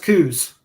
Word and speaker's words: Coos: maybe well it's but it's interesting here it's pronounced coos who's okay yeah here uh here it's co-ops